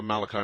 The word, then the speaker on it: Malachi: And I had a question, but I just was kind of really thrown off by something the Father Malachi, is it? Yes. Okay, pronounced it right.